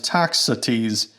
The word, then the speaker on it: Toxotes: But according to Google Search's own AI, it actually spelled out the pronunciation in explicit detail, so it pronounces it as Toxotes.